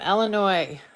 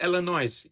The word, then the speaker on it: Illinois: do you call it Illinois why don't you call it Illinois the S is silent oh okay thank you